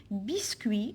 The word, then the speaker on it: biscuit: à huit numéros 8 biscuits à un biscuit donc je prononce pas la lettre t alors alors ici on